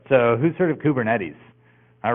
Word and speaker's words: Kubernetes: their termin ology recently but here's here's the pronunciation kuber netes NES uh which is Greek for pilot or